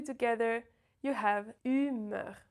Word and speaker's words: humeur: So when you combine the 2 together, you have humeur, right? Humeur. So it's not humor or humeur or humour, right? It's humeur.